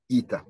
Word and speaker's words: eta: And I apologize for having pronounced it yesterday as H in English. No, it is eta.